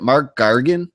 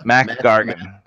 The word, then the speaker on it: Mac Gargan: he recaps his history with ICANN is it mark Gargan is it yeah America Gargan yeah Mac Gargan Gargan who was scorpion I never say his